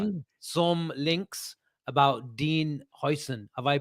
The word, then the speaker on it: Huijsen: some links about Dean Huijsen. Have I pronounced that right, Avi? Huijsen? Huijsen, Very the good.